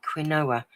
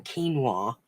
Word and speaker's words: quinoa: I was calling it quinoa. I said to my daughter, "Oh, I'm going to try this thing with quinoa." She went, "Mum, do you mean quinoa?"